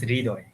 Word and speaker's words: Hridoy: My name is Hridoy. Hridoy. Is that how you Yeah.